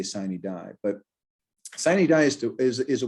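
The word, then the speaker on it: sine die: to tell me that i pronounce the latin phrase wrong that's fine i always say sign he die but sinai dies is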